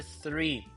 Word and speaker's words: three: Number three.